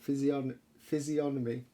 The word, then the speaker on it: physiognomy: The G is silent. Physiognomy.